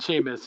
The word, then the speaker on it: Seamus: church said it too she said sheamus yes um except for i remember in the books they spell it that weird irish way s-e-a-m yes same seamus finnegan yeah all